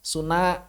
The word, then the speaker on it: Sunda: Contoh, Sunda. Maka orang Bandung nggak akan baca Sunda. Bacanya apa? Suna. Bahasa naon?